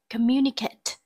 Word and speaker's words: communicate: Number 2, A, communicate. Communicate, từ này có trọng âm rơi vào âm tiết thứ hai.